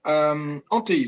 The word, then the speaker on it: Ontinyent: he is a faculty member in Université de Ontinyent, right? Am I pronouncing it right? Okay. Ontinyent, that's right.